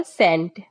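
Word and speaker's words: scent: मतलब होता है कंघा इसमें यस वर्ड साइलेंट हो जाएगा सीई एन टी होगा सेंट सी एन टी सेंट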